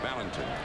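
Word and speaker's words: Valentín: know his name now he pronounces his name ballington right but the brewers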